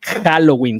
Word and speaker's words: Halloween: bienvenidas bienvenidos ya viene Halloween Halloween con j ya viene también este Cómo se dice ya ya viene la con j no con bien marcada eh dije con j no es con h pero bien marcada Halloween